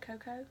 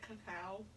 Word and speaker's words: cacao: Is that how you pronounce that? Cocoa or coca? I have an idea. Is it cacao? Cacao? Cocoa. C-A-C-A-O. Yeah, like your coconut.